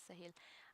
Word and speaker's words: Sahil: sahil I I why why did I call you Salah when your name is sahil I am really sorry